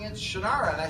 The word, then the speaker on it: Shannara: But I can tell you that time has caught up with you and your name indeed is now Shinara, you know, for years and years.